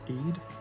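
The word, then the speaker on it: Aodh: In Celtic mythology, it's associated with the Irish god of fire and the underworld, which obviously is spelled, his name is Eid, and it's either A-E-D or A-O-D-H.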